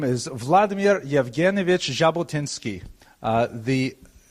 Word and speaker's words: Jabotinsky: In order to make the jack sound, you actually have to add a d to the Russian alphabet. So his name is actually Jabotinski, if you can imagine. That's the way the French would spell it with the J as well. Uh but it's often transliterated into English because we don't have the sound so popularly as a simple J.